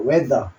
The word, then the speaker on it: whether: whether. 요때도 H는 묵음이고 W 소리만 났습니다.